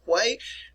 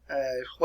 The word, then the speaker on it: Hue: And actually took the city of Hue. Hue is spelled H-U-E. And here it is right here, Hue, which is located on the Perfume River, by the way.